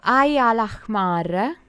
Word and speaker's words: Ain al-Ahmar: Okay, Ain al-Ahmar. Fortunately, they gave the right pronunciation. The ha, like ha, that it's the jota, the Spanish jota, that it's related to the Arab stuff, and the Arab language.